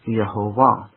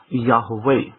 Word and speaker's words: Yahweh: I've tended to use the form Yahweh, and that is, by the way, the correct form.